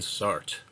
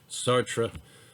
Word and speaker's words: Sartre: What are the similarities in the ethical views of Nietzsche and Sartre? Which view is better argued? Why? Explain. So Sartre, S-A-R-T-R-E, Sartre, it's a French word, and I'm not good at pronouncing French words, and we're going to see that.